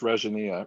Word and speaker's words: Regina: My name is Regina.